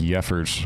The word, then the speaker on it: Jeffers: I tell people it's pronounced Yeffers.